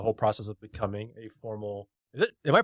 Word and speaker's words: sommelier: I know again nothing about the whole process of becoming a formal. Am I pronouncing it right? Yeah, sommelier.